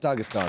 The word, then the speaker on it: Dagestan: Is this Dagestan? Dagestan. It is, although it's pronounced Dagestan.